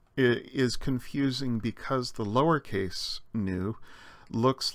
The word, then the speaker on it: nu: confusing because the lowercase new looks like an English letter V but as the uppercase suggests this letter actually makes an end sound like in nine or knife if we remember the silent K and the lowercase new